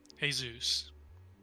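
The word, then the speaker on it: Jesús: covered in blood interesting hey zeus thank you for pronouncing it correctly for all my for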